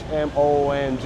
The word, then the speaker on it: Hmong: It's H-M-O-N-G, Hmong.